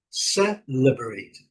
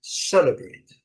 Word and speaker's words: celebrate: Então qual que seria a melhor pronúncia aí pelo menos que eu entendo, né, pelo dicionário seria celebrate, celebrate, celebrate, primeira sílaba forte.